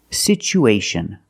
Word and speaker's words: situation: We see the T as a second syllable with TUA. So we pronounce it with the ch sound. It's pronounced situ, situation. One situation or two situations. So the second syllable is the long oo like boot and moon.